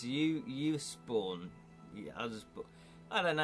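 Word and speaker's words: Usborne: I always call them Osborne, but that that isn't how you pronounce them. It's Uusborn.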